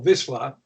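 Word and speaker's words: Wisła: On one side, it's bordered by the river Vistula, or Wisla, as it's Right. pronounced in Yiddish, and on Right.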